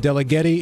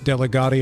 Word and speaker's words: Delligatti: And note that I said Delligatti. It is not Delligatti. I will not stand for the mispronunciation of Italian names on this show, by the way.